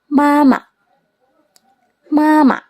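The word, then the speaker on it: 妈妈: Misalnya huruf mama. Nah, ma ini sebenarnya kan huruf ee nadanya nada satu ya. Kalau misalnya dibaca nada satu ma itu kan agak agak aneh kan. Terus pengucapannya juga agak gimana gitu. Jadi pas pengucapan nada yang belakang itu dijadiin nada ringan atau nada netral ya. Mama mama gitu.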